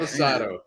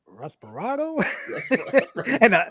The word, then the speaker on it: Reposado: They said I pronounced it wrong. I was laughing because you were like, "What, Respirado?"